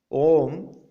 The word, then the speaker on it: om: it as a sentence om om means what om is the first manifestation of this universe the first manifestation of universe is om it has got three syllables a u m all words all sounds